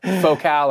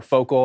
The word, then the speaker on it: Focal: Aon Aon tomato tomato yeah it's focal or focal I've heard every every iteration I've heard these you